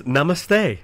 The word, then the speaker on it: namaste: That is namaste.